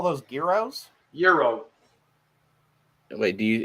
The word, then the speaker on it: gyro: euro wait do you is it a hard g or is it something else i call it the g silent i've always called them euros well in kane city we called them heroes because geraldo starts with a